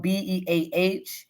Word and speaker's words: Beah: is a component of the movement and beer is spelled be a and it's in honor of this ancestor who